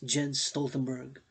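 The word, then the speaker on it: Jens Stoltenberg: miss pronounced die name gents j-e-n-s jen stoltenberg mr jen stoltenberg drop down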